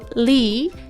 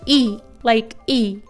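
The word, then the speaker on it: 이: And this is the korean singer IU's real name and it's read, Yi is often translated as Lee in English but in Korean we read it Yi.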